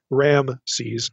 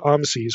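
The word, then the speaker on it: Raamses: here we have literally there's like two a vowels in the pronunciation it's not Ram C's it's the way this is spelled so I'm going to try to be consistent here and say I'm sees when I'm referring to Exodus 1 11 specifically but I'll also just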